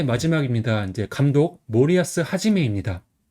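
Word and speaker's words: 森保: 이제 감독 모리아스 하지메입니다. 그래서 성은 이제 모리아스라고 읽어요. 그래서 수풀 3 치케포가 합쳐진 환자예요. 그래서 수풀 3은 모리라고 있고 그다음에 지킬는 야스라고 있고 그다음에 뒤에 이름 같은 경우는 이제 한일이 붙여 가지고 하재매라고 얘기 있습니다.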